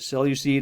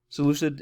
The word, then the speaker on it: Seleucid: of uh ptolemaic Empire was the uh salacious or the cellucid or sometimes people people say um the solution seleucid Empire you see a couple different pronunciations there Solutions so you